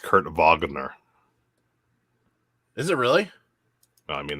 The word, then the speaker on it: Kurt Wagner: that they go by another one's added it's pronounced kurt wagner is it really i mean that's how he